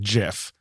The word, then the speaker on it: GIF: it up once but the person who created it pronounces it jiff okay but it stands